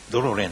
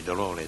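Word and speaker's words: dolore: の中には長く発音したり短く発音したりするの色々違いがございますのでドローレなんて言わないでやっぱりドローレとかという風になり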